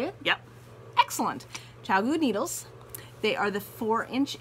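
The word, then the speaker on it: ChiaoGoo: Okay, so these are Chowgu. Is that how you say it? Yep. Excellent. Chowgu needles.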